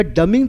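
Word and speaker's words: dumbing: process म्हणतात डमिंग तर डमिंग spelling D य एम बी आय एन पण त्या बीचा उच्चार करायचा नाही डंबू बुद्धू सगळ्या लोकांना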